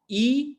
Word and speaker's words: e: कुलदीप ई गणेश। लिखेंगे हम यही अक्षर, लेकिन उसका उच्चारण, प्रोनाउंसिएशन थोड़ा बदल जाएगा। सो कुलदीप ई गणेश, वहां पे ए नहीं बोलेंगे, ठीक है।